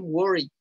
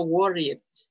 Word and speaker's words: worried: La E no suena. I'm worried. No worried. I'm worried.